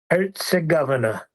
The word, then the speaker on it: Herzegovina: How's it pronounced? Herzegovina. Bosnia-Herzegovina. Herzegovina.